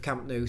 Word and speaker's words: Camp Nou: When I'm talking, I'll either flip between the Spanish or the English pronunciation of Camp Nou. So sometimes it's Camp Nou, sometimes it's Camp Nou. Or now Camp Nou. It's never going to be new, is it?